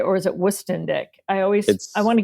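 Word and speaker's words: Woestendick: Now, I always mispronounce Cooper's last name. I call him Wendic. Is that right? Or is it West Indick? I always I want to give him Westick. West Indick.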